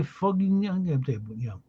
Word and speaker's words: Fugging: Latin as Dalperdius de Fuggingen. The spelling of the name, which is pronounced with the English language vowel ook as book, so it's Fugging.